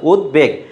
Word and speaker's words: উদ্বেগ: স্রিজার এটা বহুবীর সমাস উদ্বেগ এটা হচ্ছে উচ্চারণ ব মানে বফলা উচ্চারণটা বহাল আছে উদ্বেগ এরপরে দেখো ফ্রা ফ্রা হচ্ছে ফ্রান্সের যে মুদ্রা সেটা বলা হয় আর স্যাটিন হচ্ছে রেশমী বস্ত্র।